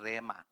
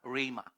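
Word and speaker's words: ῥῆμα: It should be pronounced as RA. Pwedeng Rema yung iba sa but it should be pronounced as RA.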